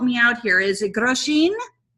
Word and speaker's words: Grosjean: Is it Grosjean? Grosjean, like Americans say, as in Europe we say Grosjean.